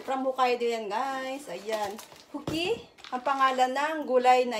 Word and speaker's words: Fuki: Bigkas. Magkamali. Ayan, Fuki, guys.